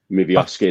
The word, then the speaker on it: Miovski: Yeah, it says here Celtic and Rangers still retain the firm interest in bringing Bojan Miovski. Miovski, that's it. Yeah, you pronounce it better than me.